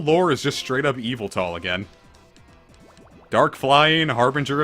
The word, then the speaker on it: Yveltal: like the 6 gen legendaries like journey isn't evil tall slap I liked the kiss didn't know that it was pronounced evil tall they were pronouncing it like you felt ill or whatever but on the trading card for